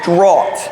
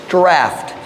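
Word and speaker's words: draught: nets for a draft I have always pronounced that as drought like the word caught in English but I Google searched it today it is draft draft meaning it comes from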